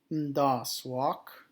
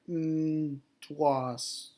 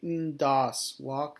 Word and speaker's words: Ndaaswak: So 1,000 is pronounced Ndaaswak. Or Ndwas, or it should be Ndaaswak. That W is a typo.